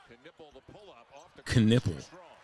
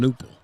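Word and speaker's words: Knueppel: guy pollute the NBA canle guy's last name is canle just don't pronounce the k just call him nle it's K it's nle I don't think it's canle is that a silent k don't you go silent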